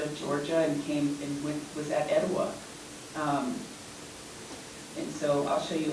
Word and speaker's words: Etowah: But if you think about Etowah, and how we say it in the Muscogee language is Etowah.